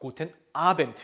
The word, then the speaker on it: Guten Abend: 특히나 끝에 나오는 D는 테이라고 발음하는 거 기억하시면서 Guten Abend 이렇게 하시면 되겠죠.